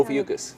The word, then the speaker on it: Ophiuchus: Is that how you pronounce that actually, or? Ophiuchus.